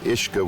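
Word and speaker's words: Easach: name for the waterfall, which, while pronounced the same, is spelled with an E. So instead of being spelled U-I-S-G-E or U-I-S-A-G-E, the correct spelling is actually E-A-S-A-C-H. The spelling of Ishka with the E is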